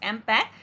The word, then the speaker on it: MPEG: here is that is mpg mm-pac which we pronounce as impact mpeg which stands for